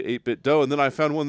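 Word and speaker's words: 8BitDo: So all right it's a bit do but it's like I'm gonna say missed opportunity man.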